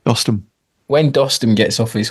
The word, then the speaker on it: Dostum: When Dustin, is it Dustin? I keep saying it wrong. What is it? Dostum.